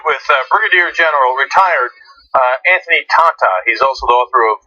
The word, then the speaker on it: Tata: His name is spelled T-A-T-A. It's Tata.